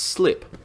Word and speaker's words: sleep: But the point I wanted to make about language with that is that suddenly the word sleep is actually pronounced slip.